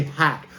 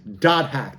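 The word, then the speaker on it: .hack: is how you say some people just say hack but if you look at the title here it is dot hack that word dot hack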